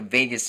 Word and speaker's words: vagus: the doctor about the Vegas nerve and she said I love Vegas and I was like no Mom it's spelled differently but but it sounds the same so welcome to my